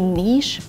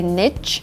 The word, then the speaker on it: niche: niche and I say niche but really it's better to say niche and niche is more conservative more academic and this is the better way to pronounce the word that refers to a